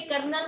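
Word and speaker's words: kernel: Null space भी बोल देते हैं, कर्नल भी बोलते हैं। वैसे ये कर्नल नहीं होता, ये होता है कर्नेल।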